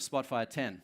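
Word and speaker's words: Spotfire X: announced the launch of Spotfire 10 it's written X but it's pronounced 10 and there's a bunch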